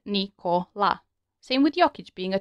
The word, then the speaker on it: Nikola: Notice how we can split the name Nikola into three syllables. Now just apply the one letter one sound rule and you get Nikola.